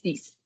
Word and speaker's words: six: Thank um six is is written exactly like six in English, but it's pronounced cease.